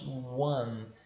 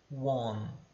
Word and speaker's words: one: Nós falamos one. É quase como se fosse um A. One, tá? One. Nunca one, beleza?